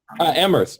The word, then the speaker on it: Amherst: How do I pronounce this correctly? Help me. Amherst.